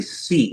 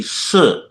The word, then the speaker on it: Si: So the last name is actually Si if you trace it back to the Chinese lineage. In traditional Mandarin, it would be Shi. Okay, so Fujianese, it's Si. In Mandarin, it's pronounced Shi, same character.